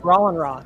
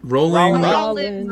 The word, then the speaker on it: Roland Ron: guys don't say it wrong. It's Roland Ron. Roland's my first name. Rolling Ron. Everyone always says Rolling Roland. Ron. Everyone. My entire life says Roland. It's crazy.